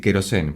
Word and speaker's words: Kerosene: Yo le voy a decir querosene, porque acá en Argentina le decimos querosene, así que vamos a escuchar querosene.